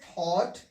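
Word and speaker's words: thought: तो जी एच का उच्चारण नहीं करेंगे, इसे पढ़ेंगे लाइट, इसको पढ़ेंगे फाइट, ये थॉट, डॉटर।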